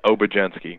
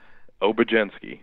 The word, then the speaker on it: Obiedzenski: what you're talking about the last name is pronounced over Jen Psaki okay we literally uber gently we go with that's it oh but